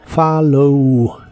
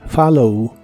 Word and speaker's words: follow: de inglés es follow la primera o se pronuncia como a y la doble l se pronuncian como una l normal follow follow y en el presente